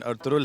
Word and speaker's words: Ertuğrul: अर्तुगरुल, ये ज़रूर जाते जाते आपसे पूछेंगे कि ये जो जिसे हम अर्तुगरुल बोलते हैं, उसका प्रोनाउंसिएशन अर्तुगरुल है, इसका मानी क्या है?